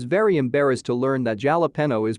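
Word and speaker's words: jalapeño: here replied they're called jalapeno and my sister and i were like wait are you serious he was very embarrassed to learn that jalapeno is pronounced with an h and spelled with a j we were all between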